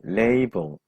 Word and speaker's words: label: 예, 그 레이블이라든가 라벨 붙인다는 말이 다 이것을 발음한 것인데, 영어 발음은 레이블입니다.